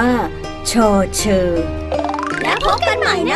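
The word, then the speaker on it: ฌ เฌอ: หมาย ถึง ต้น ไม้ พยัญชนะ ตัว ที่ 12 ใน ภาษา ไทย ต้อง อ่าน ว่า ฌเฌอ แล้ว พบ กัน ใหม่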